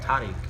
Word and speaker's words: Tariq: which they gave me, Tariq, or Tariq, as it's pronounced in Arabic, which is the 86th